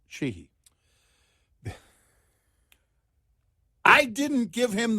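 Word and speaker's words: Sheehy: strong GOP candidate and it's spelled uh s-h-e-e-h-y pronounced chihi the I didn't give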